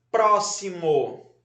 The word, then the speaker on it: próximo: Então, última, penúltima, Antepenúltima. Está na antepenúltima sílaba.